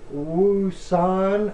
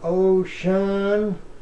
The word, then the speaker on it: Wouxun: It's called a Wouxun or Ocean, or however you'd like to pronounce it.